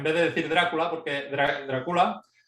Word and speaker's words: Drácula: de decir Drácula, porque Drácula, tal y como a ti te gusta también, Artur, y Jorge, es como se pronuncia originalmente en Rumanía. Se pronuncia Drácula, no Drácula, como estamos acostumbrados aquí, pero bueno, es solamente este pequeño anécdota.